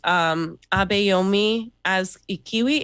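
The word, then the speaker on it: Abayomi Azikiwe: Yes, so our guest is Abayomi as Ikiwi.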